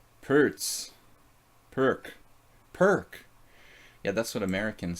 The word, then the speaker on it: Pirc: Pertz. Maybe Pirch. Pertz. Perk. Yeah, that's what Americans say too. So Pirch was like Slovenian, I think.